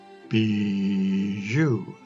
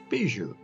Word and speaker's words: Bijou: The correct pronunciation as given by Webster is as if it were spelt, and they go on to spell it, Bijou. Bijou. Bless you. Except on the first syllable.